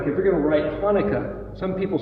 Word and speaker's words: Hanukkah: line through it and it's actually pronounced as a guttural hanukkah so what i do